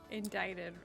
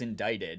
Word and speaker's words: indicted: Like, you used to say indicted all the time. Oh, yeah. I used to say indicted. Yeah. And because I, like, when was the scenario I was going to use that very often? Yeah. And then I said, like, indicted, and you were like, it's indicted. And I was like, there's no way.